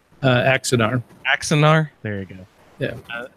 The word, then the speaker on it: Axanar: He's there generally for, I'm not sure I'm going to pronounce it correctly, Anaxar? You know what I'm saying? Axanar. Axanar.